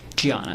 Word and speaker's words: Gianna: Gianna. It's spelled with a D, but she's Brazilian. Okay. So he was married to a woman pronounced Gianna, correct?